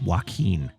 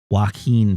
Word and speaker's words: Joaquin: this oh oh apparently apparently the name is pronounced Joaquin Joaquin Phoenix Joaquin pyro says well your blank is